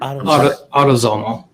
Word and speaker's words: autosomal: Autosomal? How do you say that word? Autosomal.